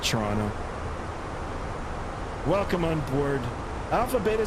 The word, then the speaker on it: Toronto: Toronto. Um, I pronounce it Toronto.